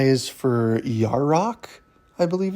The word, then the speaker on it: Yarok: Y is for Yarok, I believe it's how it's pronounced.